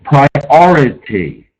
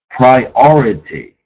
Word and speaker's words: priority: Priority. Priority. Okay. Accent on the second syllable.